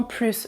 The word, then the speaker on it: plus: Dans ce cas-là, je prononce aussi le S quand le mot plus est un nom.